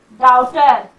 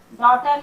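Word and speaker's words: daughter: डॉटर, डॉटर में भी जी एच का साउंड नहीं हो रहा।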